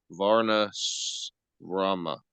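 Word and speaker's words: varṇāśrama: created a system called Varna Rama with division that's actually called the S is pronounced sh uh so let's try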